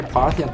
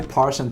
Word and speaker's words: Parthian: I learned how to say Parthian tactics. I don't know why I always say Partian tactics, but it's Parthian, apparently.